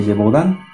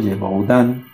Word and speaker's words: Gévaudan: También hay un caso muy interesante que es histórico, el de la bestia de Gévaudan. Es francés, así que discúlpenme si está mal pronunciado. Gévaudan, se le denominó así, la bestia de Gévaudan,